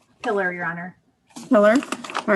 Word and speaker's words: Pillar: let me turn off that how do you pronounce the last name pillar your honor pillar all right this is a matter of rebecca